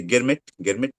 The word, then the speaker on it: Girmit: a government permit, which government permit pronunciation was difficult. So they used to say Girmit, and mm, that's how they became Girmitias, because they signed yeah, a government permit.